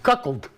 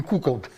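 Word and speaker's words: cuckold: Какалд. Не кукалд. Каколд через а произносится.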